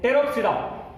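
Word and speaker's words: Pteropsida: इसमें ग्रुप है एंड टेरोप्सिडा, here T is silent, here टेरोप्सिडा में एग्जांपल जो दिए वाला है वो है टेरिस।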